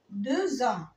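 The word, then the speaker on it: deux ans: إمتى بنطقها؟ لو جه بعديها لتر فويل، زي ما أقول أدي دو وأدي أو. أنا عندي سنتين، هقول هنا إيه؟ دو زان دو زان.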